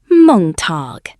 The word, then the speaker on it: Montag: Montag is pronounced Montag.